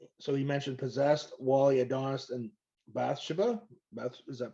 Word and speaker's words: Bathsheba: I think he mentioned Possessed, Wally, Adonis, and Bathsheba. Is that pronouncing properly? Bathsheba, yeah.